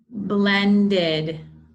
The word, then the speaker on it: blended: Blended. Blended. There's that id sound.